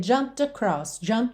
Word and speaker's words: jumped: O E não é pronunciado, eu já vou do M direto pro D. Jumped across.